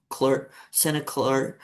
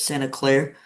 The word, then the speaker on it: Santa Clara: So you also played college ball at Santa Clara, sorry, how do you say it? Santa Claire University? Clara. Yeah, Clara? Clara, yeah. Sorry.